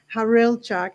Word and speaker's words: Hawrylchak: joining us Dr harchak is that's the right way of pronouncing your last name got it right on I tried my best